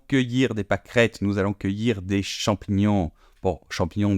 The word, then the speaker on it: cueillir: Je vais cueillir. Cueillir. Cueillir des champignons. Nous allons cueillir des pâquerettes, nous allons cueillir des champignons.